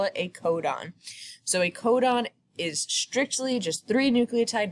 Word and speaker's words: codon: next lecture and it's a codon that is pronounced a codon and all that is is just three nucleotide